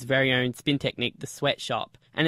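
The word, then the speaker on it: Sweatshoppe: your wife Mimi's very own spin technique the sweatshop and it's spelt sh 0 double PE is it still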